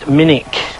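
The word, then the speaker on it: Minack: here farewell never mind anyway this is the minik theater it's spelt minak but it's pronounced minik and it's brilliant open air theater right on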